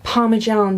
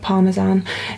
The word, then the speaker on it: parmesan: like you've put like parmesan cheese on top yeah um or should i say parmesan cheese i think that's how it's actually pronounced that was me being very british calling it parmesan anyway yeah i think